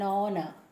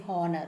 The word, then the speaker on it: honor: sound so because h though h is there it is being silent it is silent hence the sound we